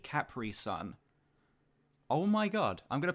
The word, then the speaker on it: Capri Sun: saying Capri Sun properly other Americans pronounce it Capri which annoys the hell out of me he just said it properly cpri son oh my God I'm